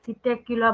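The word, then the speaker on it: Psittacula: यहाँ पे P silent होता है, सिटेक्युला बोला जाता है इसको, PSITTA CULA, ठीक है।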